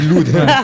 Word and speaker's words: Loud: l loud ok d'accord on dit loud on prononce toutes les lettres strasbourgeoise Marois installé à